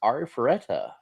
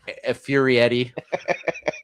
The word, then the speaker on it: Arifureta: Uh, my number two is Arifureta.